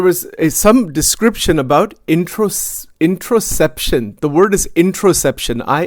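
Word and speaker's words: interoception: Even it's inter introsception. I N T E R O C E p I O N. Introsception. That's how it is pronounced.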